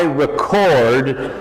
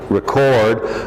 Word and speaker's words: record: I record, same spelling, different pronunciation, record.